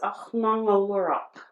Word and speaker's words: Aġnaŋuluuraq: So how you pronounce it is Aġnaŋuluuraq.